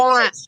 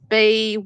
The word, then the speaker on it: Bynes: And her last name is spelled Byrnes. Is that right? Amanda No, it's Bynes.